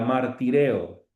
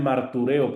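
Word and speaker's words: μαρτυρέω: Hermanas, ¿a qué les suena esta expresión griega, martireo? Muchos lo pronuncian martureo, pero no, la upsilon se pronuncia como i, martireo.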